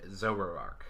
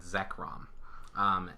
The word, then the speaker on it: Zekrom: the one that they showed is Pikachu and Zoey Ark I think that I'm pronouncing that correctly who knows right I'm terrible at pronouncing pokemons names it's not sober hour come apologize it's Pikachu and Zekrom it has 240 HP it is a an